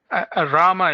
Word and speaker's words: Ramy: Let's go to um Ramy. Ramy, am I pronouncing your name correctly? Rama is fine. Rama. Okay. Rama almost like Roma.